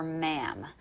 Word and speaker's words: ma'am: conversation you're going to call her ma'am to rhyme with blueberry jam all right okay that's